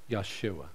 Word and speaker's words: Yeshua: And back then, they would say, Yeshua.